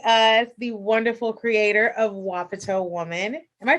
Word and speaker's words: Wapato: Thank you so much for joining us, the wonderful creator of Wapato Woman. Am I pronouncing that right? That's how I've been saying it. Okay, perfect. My mom pronounced it WAP 2 other day.